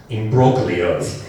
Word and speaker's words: imbroglio: It is pronounced imbroglio, with the O lengthened. The G is silent, like the P in ocean.